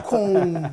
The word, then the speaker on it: com: Você pronuncia esse M? Pergunta pra vocês aí de casa. Vocês pronunciam esse M? Esse M? Você fala com Você não fala com. Você fala com. Já virou nasal.